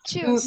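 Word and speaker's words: Tschüss: Choose. Yeah. Exactly. Very good. So you will say it as choose. Choose. And you know, you can say it with little style. You don't have to say choose.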